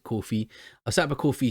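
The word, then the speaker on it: Ko-fi: also set up uh it's called a coffee i had a luke and they pronounced it coffee i set up a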